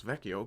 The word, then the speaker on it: Vecchio: I know how to pronounce Vecchio because I've actually heard Italians say the word.